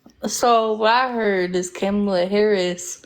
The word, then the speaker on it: Kamala: So what I heard is Kamala Harris. It's Kamala Harris. Okay, whatever her name is. It's not whatever her name is. You're gonna say Kamala Harris. You going out of your way to not pronounce her name right is even weirder.